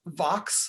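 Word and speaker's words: Vaux: there named calvert vox his last name is pronounced vox like rhymes with fox or box he convinces vox to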